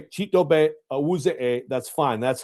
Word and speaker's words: Chidobe Awuzie: So if you say Chidobe Awuzie, that's fine. That's how you say it. But see, everybody around here wanted to say Chidobe Awuzie.